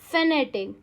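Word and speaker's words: fanatic: हाउ डू you pronounce it? We pronounce it एज फेनेटिक।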